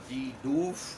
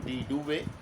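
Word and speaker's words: de Duve: You can also pronounce it D. Doof or D. Duve.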